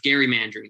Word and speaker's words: gerrymandering: there's a lot of gary mandarin that occurs and that actually is how that word is pronounced gary mandarin i hate it too but apparently we have to say it so it's going to